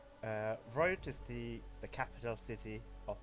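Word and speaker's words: Wroat: Yeah, it's a silent W. Rote is the capital city of the nation of Breland, housing both the royal family and the royal parliament.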